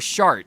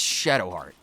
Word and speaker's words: Shadowheart: Don't call her Shart. That's not as hilarious as that is. It's Shadowheart. Say it right or don't say it at all.